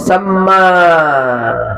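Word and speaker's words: ثَمَّ: Wa min samma, oleh karena itu jangan summa bacanya ya. Kalau summa huruf a atau samma itu dhorof zaman makan.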